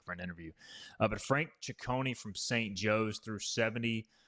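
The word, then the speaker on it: Ciccone: Chonei I believe an Italian last name so it's C I CC O N E I'll try to get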